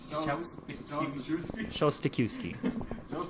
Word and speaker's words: Szostakiwkyj: I'm like, Yeah, the trick's not to pronounce the J or the Z.